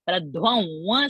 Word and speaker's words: प्रध्वंसि: Pradhan, the na sound should not come. Pradhvam sound should come.